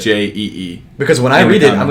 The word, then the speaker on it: Ouija: WEEJEE. No. Yeah. Yeah. That's how you pronounce it. WEEJEE.